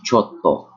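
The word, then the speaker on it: ちょっと: Okay, this one, chotto, chotto, not chotto, chotto. Okay, with that pause.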